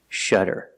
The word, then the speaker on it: shudder: is to shutter pronunciation you see the letter U before a double consonant it makes a short sound that's a relaxed closed sound shutter and the Double D makes a fast D sound shutter shutter and the